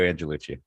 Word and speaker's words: Angelucci: show with me and I let pronounce his last name how are we doing good it's uh Lucci angellucci thanks for having me on the show Brett